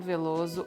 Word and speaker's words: Veloso: one here, but Caetano Veloso or Caetano Veloso. Notice the Veloso. Sou eu, Caetano Veloso. The S will sound like a Z, Veloso, and the O will sound like U, Veloso.